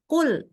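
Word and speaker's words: قُل: ya hafal klhu nah jangan sampai jadi kul ya KL bukan kul kul ya Qul artinya Katakanlah salah-salah jadi KL disuruh Makanlah jadi hati-ti ya bacanya Qul dari belakang enggak ada keluar udara sama sekali Qul bukan KL gitu ya Satu lagi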